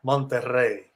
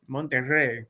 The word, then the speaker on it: Monterrey: In Spanish, a Monterrey. Oh, I'm sorry. You have to say it like Corinthian leather. You have to say with the sponge. You have to say with a feeling. Yeah, Monterrey. Monterrey. Get to roll the R. Roll it.